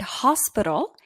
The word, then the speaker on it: hospital: sound our not hower however in the word hospital it produces a consonant sound hospital listen to how